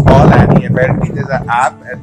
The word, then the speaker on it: Call Annie: ऐप का नाम की है Call Annie, जो कि देसी प्रोनाउंसिएशन में कॉलोनी हो गई, but it's Call Annie.